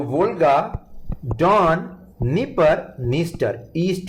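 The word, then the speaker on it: Dnieper: इसके अलावा यूक्रेन एक फेमस कंट्री जिसमें जहां पे वेरी फेमस रिवर्स फ्लो करती हैं, निपर, यहां आप देख सकते हैं D silent, निपर एंड नीस्टर river out है, नीस्टर।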